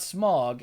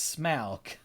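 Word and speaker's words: Smaug: Tolkien was very clear about how things are pronounced the dragon's name is not smog it's smock because the Au sound in the tolkien's what's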